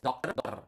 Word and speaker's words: dokter: And then doctor is dokter. Remember, this in previous, you need to pronounce the R.